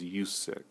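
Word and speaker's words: Uxas: Oh, by the way, Darkseid's real name is Yusek. U-X-A-S. That's how you spell it.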